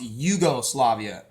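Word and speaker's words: Jugoslavia: letter Iota in Greek many European languages pronounce j as the letter i or a y sound a yeah yeah they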